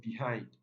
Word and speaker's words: behind: take the primary stress so here behind behind this is the short e it doesn't it's weak it's a weak vowel sound and it doesn't take the primary stress so this takes the